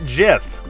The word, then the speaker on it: GIF: that i've got yes i pronounce it jif because file types have a just sound it's just the way it is jpeg png jiff so there you go that's why i say it like that i haven't had people